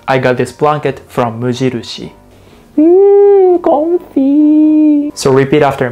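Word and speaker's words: 無印: what's funny is that we never call it muji in japan we say mujiru shi mujirushi i understand muji is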